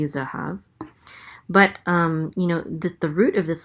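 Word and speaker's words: זהב: And a hey with a kamatz, which says as, so this is ha. And then a vet closes out the syllable, so it says hav, zahav.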